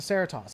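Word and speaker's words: Cerritos: over and over and over yeah it's the ceratos that's exactly how you say it that is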